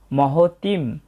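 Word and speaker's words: মহতীং: এবং এর পরবর্তী চরণের শুরু হবে আচার্য, এরপর মহতিম। শেষে অনুস্বর থাকার কারণে অর্ধেক ময়ের মতো উচ্চারণ আসবে এবং শেষে আছে চমুম।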